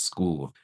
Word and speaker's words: Skool: That's my community over at School. School is spelled Skool.